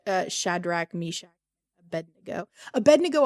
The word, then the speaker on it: Abednego: pronounce uh shadrach meshach abednego always trips me up though and i always want to say ebb and dingo so that's why i